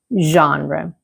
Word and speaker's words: genre: It is a soft sound like in like the s in measure. Okay? So, genre.